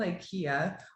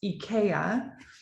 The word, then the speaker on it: Ikea: know of it it's called Ikea or better pronounced EA right in America we butcher everything so I I'm gonna